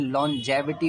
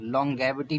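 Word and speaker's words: longevity: यहाँ गा होगा, लेकिन लॉन्जेविटी होगा, आप ध्यान रखना, लॉन्गेविटी नहीं होगा, लॉन्जेविटी होगा।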